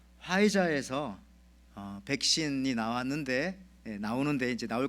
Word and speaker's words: 화이자: 그런데 여러분들 스펠링이 PHIZER이기 때문에 앞에 뭐 이제 P가 묵음인가 봐요.